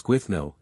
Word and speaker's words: Gwydno: Gwydno equals Gwithno, th as in breathe, Gwenhidi equals Gwenhidue, Syfaddon